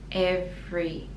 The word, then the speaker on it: every: the teeth with every every so the second e is silent every with every christmas